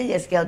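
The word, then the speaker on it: Yehezkiel: Eh ee enggak Yeszkel 37. Oh bacanya Yeszzkiel 37.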